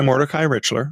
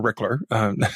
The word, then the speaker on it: Mordecai Richler: And it's by Mordecai Richler, or Rickler, depending on how you want to pronounce it.